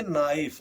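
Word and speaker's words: knife: नाइफ इसको नाइफ नहीं पढ़ते हैं। इसको पढ़ेंगे नाइफ। नाइफ क्यों पढ़ेंगे? क्योंकि एन के के बाद है तो के साइलेंट हो जाएगा। के के पहले है तो के साइलेंट हो जाएगा। के के बाद एन है तो के साइलेंट हो जाएगा इसलिए नहीं पढ़ा जाएगा।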